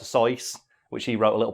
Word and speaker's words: Seuss: Or the other one is Dr. Seuss, when it's actually supposed to be Dr. Seuss, which he wrote a little poem about, which is, it's not Seuss as in goose, it's Seuss as in voice.